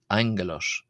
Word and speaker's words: ἄγγελος: Angelos is derived from the Greek word angalos. Angalos. So like an NG sound for the first G there in Greek.